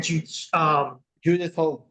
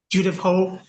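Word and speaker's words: Judith Hoag: I personally feel that, how do you pronounce her name again? Judith Hogue. Judith Hogue.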